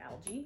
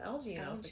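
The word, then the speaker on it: Algy: and i was like there's no way that's pronounced out yeah and then i listened to the audio performance of it and they just said algae okay i kind of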